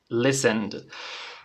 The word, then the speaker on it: listened: En este caso la pronunciación termina en D. ¿Vale? Termina en D. Bien, repitan conmigo. Presente, listen. Pasado, listened. Tiene que sonar esa D, ¿vale? La D al final suena.